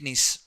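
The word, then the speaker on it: gneiss: Granetic knees. Entire peninsula plateue of India. What type of rock is there? Granetic n in this G silent when you pronounce it you have to pronounce with more stress on I.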